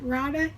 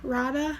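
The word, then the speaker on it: Raada: radha something like that i pronounced it rada in my head it's r a a d a rada i don't know how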